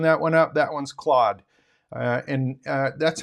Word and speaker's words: Claude: And that particular one is, I'll open that one up, that one's Claude. And that's how I pronounce it, Claude.